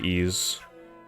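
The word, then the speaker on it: Ys: I mean wise yes you pronounce it ease but a lot of people say wise can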